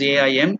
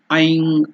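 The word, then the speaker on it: ऐं: Generally, the people who do not know Sanskrit will pronounce it as AIM, aim. It's not aim. The aim is something different, aiming something. This is bija mantra Aim, Aing or Aim.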